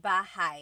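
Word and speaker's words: bahay: me b b bah you might notice that the spelling is a y at the end so it looks like bah but it's pronounced bah that ay combination is bah bah now you might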